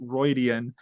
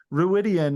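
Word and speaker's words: Rhuidean: pronunciation guides because because I've never heard someone call it ridian ruidan is always the name I've heard it pronounced and I know that's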